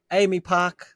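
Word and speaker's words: AAMI Park: what what is it Ami Park Amy park that's how they pronounce it yeah it is Amy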